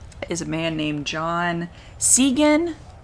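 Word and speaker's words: Cygan: a man named john segan i guess it's how i pronounce i don't know it's sy sy see there it is what the heck um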